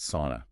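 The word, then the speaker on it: Sunn O))): And again, that's pronounced sauna.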